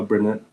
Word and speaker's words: Bernard: So, uh, am I pronouncing your name correctly? Uh, yes. Uh, Bernard. Correct. Bernard.